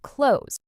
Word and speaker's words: clothes: A lot of learners say every sound clearly. Clothe this. But native speakers often blend it into something closer to clothes.